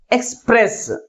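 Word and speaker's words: express: ని ఈ ఎక్స్ తర్వాత సిలబుల్ ముందు ఉంచాలి నెక్స్ట్ ఎక్స్ప్రెస్ ఎక్స్ప్రెస్ దీంట్లో ఎన్ని సిలబస్ ఉన్నాయి టు సిలబల్స్ ఉన్నాయి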